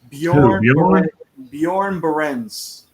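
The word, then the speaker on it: Björn Barends: Because I don't necessarily know how to pronounce it. Bjorn Berens.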